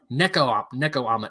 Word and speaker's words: Nekoama: Pokemon starter trio pet parody by the artist Nekoama. I'm pretty sure I said that right. Oh, no, I was wrong. Nekoama. It's spelled Nekoama.